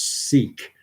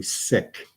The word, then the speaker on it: Sikh: proper way to pronounce seek is actually sick that's the way it's pronounced in Punjabi their language um but we don't